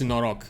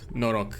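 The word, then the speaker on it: noroc: here uh no Rock it's n o r o c it means good luck yeah that that way to be fair I was kind of pronouncing it a bit in English cuz my brain is like that it's norok norok that's how you pronounce it that's the fonetic of it we say uh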